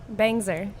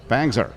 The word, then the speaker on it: Bangser: Bangser or Bangser? How do you pronounce the S? Bangser. Bangser.